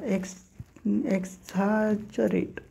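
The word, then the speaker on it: exaggerate: किंवा पापी त्याच्यानंतर एक कॉमन बघा एक्स च्या एक्स झारेट एक्स झारेट एक्स छा जरेट बघा एक्स छा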